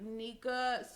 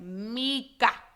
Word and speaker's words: Nyeka: Because a lot of people be thinking I'm saying Mika. It's Nyeka. No, I'm playing. It's Nyeka. Nyeka. Nyeka. It's not a Tanika, Shanika, Wakika. It's just Nyeka.